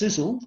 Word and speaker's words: Sisel: It's pronounced Sisel, which stands for Science, Innovation, Success, Energy and Longevity.